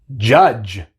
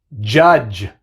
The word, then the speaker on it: judge: dodge, dodge, bridge, bridge, judge, judge. Así que vemos que en estas palabras tenemos la D seguida por la G, pero solamente hace el sonido de la G. La D es muda.